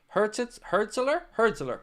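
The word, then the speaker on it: Hürzeler: Apparently now he's leaning towards a move to Brighton after having talks with Fabian Herzler, or how do you pronounce his name? Herzler.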